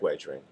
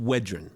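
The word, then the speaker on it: Wedren: been very practical in wering ah you hear that it's pronounced wedin thanks michaelan black one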